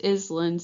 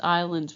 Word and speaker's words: islands: islands it's not pronounced islands it's islands we don't pronounce that s so on page 14